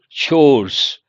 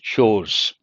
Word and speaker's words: chores: How do you pronounces chores sounds like a Hindi word but it is an English word par spe noun a